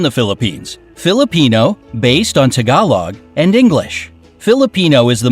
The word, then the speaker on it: Tagalog: So it's not Tagalog, like I pronounce it, it's Tagalog.